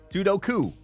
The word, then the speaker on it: Sudoku: Outside the US, I don't know if they do stuff like that, but I pronounced Suduku wrong. Is it Sudoku? Is it Sudo? Sudoku. Sudoku. That is it.